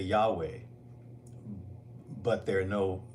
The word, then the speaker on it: Yahweh: to I'm going to teach you real quick how to pronounce Yahweh the proper way it it has to do with your breath you don't even have to bring your lips together all you got to do is take breath are you are you